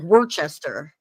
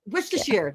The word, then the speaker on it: Worcester: It's spelled like Worchester. Worchester. Worers. That's what it is. Worcers. That's what they say.